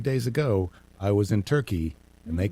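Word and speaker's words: Türkiye: that we learn how countries want us to pronounce their name. Yes. It is no longer Turkey. Nope. No There's one an is A. supposed to call it Turkey anymore. It is now Turkey A.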